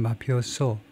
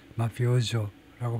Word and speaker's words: mafioso: 모르겠지만 아마 이태리 말로는 마피오소라고 할 텐데 영어에서는 모음 사이에 끼어서 마피오조라고 발음을 한다 이건데 and I'm the opposite.